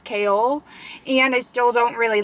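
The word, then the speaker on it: Chaol: but my mind has been blown because I have been saying Cole's name as Cole but the the narrator pronounces it as like Co-op no kale kale she says kale I did not expect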